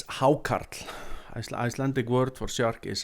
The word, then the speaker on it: Hákarl: that comes from the Greenland shark known as hackel at least that's how it looks like it sounds when I when you read it on paper but I'm definitely pronouncing it wrong it's haart icelantic word for Shar is haart so we